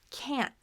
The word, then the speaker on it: can't: So when we have this with can't, the N goes into the stop T.